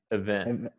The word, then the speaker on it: event: event yeah okay now i'm not going to pronounce the e like the letter e it's more like a event event and wow that was